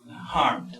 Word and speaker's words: harmed: D, entonces, por ejemplo, harmed. Entonces recuerden, todas estas palabras se tienen que pronunciar como una D al final.